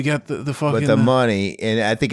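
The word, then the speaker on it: Munny: Is it Mooney or Money? It's I think it's Money. That's how you say his name.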